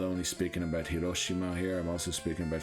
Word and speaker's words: Hiroshima: Hiroshima we're going to Hiroshima by the way is the English pronunciation I'm pretty sure we're